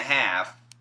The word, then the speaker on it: half: Now, while offering time and a half and catered turkey to its employees is being flaunted.